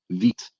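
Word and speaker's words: Vite: s dot dev yeah it's pronounced uh veet it's french i was wondering because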